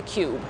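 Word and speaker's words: Qube: the street from the guardian building is the cube that's spelled q-u-b-e and i'll explain why it's named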